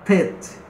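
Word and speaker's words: ט: A outra letra, a letra Tet. Tet. Serpente, equivale ao nosso T em português.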